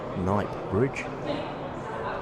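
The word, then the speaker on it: Knightsbridge: Night Bridge with a silent K and just uh one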